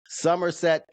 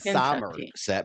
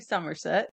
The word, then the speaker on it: Somerset: we're we're going to bring you out to Somerset, Kentucky. I call it summer set because it's not summer, it's summer. It is the way it's spelled is summer, but it's actually Somerset.